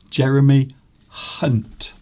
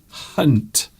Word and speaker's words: Jeremy Hunt: Jeremy Hunt. It's definitely Hunt.